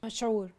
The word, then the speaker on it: مشهور: Go ahead, the mashhur, is that, am I correct how you say it? مشهور.